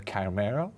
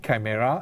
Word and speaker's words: Chimera: This is also inspired by a Greek word, where I think in Greek it's K, so it's Ki, chimera, and I think when